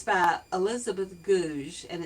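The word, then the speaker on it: Goudge: selection it's by Elizabeth gouge and it's not pronounced did you it's not pronounced gouge but it's pronounced as if it has z h on the end and she spent Summers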